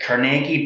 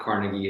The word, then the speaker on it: Carnegie: Can you quickly share about and you say it's not Carnegie, it's Carnegie, is the proper way of pronouncing it.